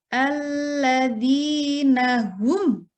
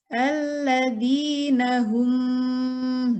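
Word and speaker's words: الذين هم: Cara membacanya adalah jelas, tidak boleh berdengung. Cara membacanya alladzina hum tidak boleh alladzina hum. Nah, itu salah ya. Tidak boleh berdengung, harus jelas.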